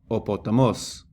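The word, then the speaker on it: ὁ ποταμός: They don't have an accent of their own, and they're pronounced as part of the word following them. So you would read this as opotamos, opotamos.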